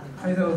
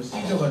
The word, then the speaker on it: 카이사: 카이사로 돼 있나요? 네. 왜냐하면 이게 이제 이 라틴어의 C라고 하는 게 라틴어 발음으로 하면 카처럼 K로 발음이 돼야 되는데, 이게 영어로 가면 S식으로 발음이 돼버려요. 시저가 돼버려요.